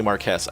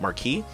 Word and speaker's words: Marquess: here so Marquess it's not actually Marquess I learned it's pronounced Markie so Markie technically being